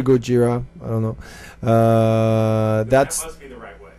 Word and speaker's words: Gojira: I mean, people are free to pronounce it as they want. Some will say Gojira, some Gojira, Gojira, or I think the best way to pronounce it is Gojira, and that's the Japanese, So, but don't worry about it.